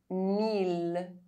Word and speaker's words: mille: I double L is only pronounced E if preceded by a consonant and followed by a vowel, except in ville, mille, tranquille, lille.